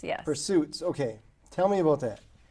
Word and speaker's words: Pursesuitz: Well, it's a play on words. All right, clearly. Yes. And it's spelled deliberately P-U-R-S-E, the word purse, and then suits with a Z at the end.